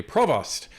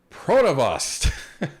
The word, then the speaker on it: Provost: candidates, citing Montrealer Nathalie Provost, a survivor of the Polytechnique massacre and a gun control advocate. However, he mispronounced her last name as Pronovost, and mistakenly referred to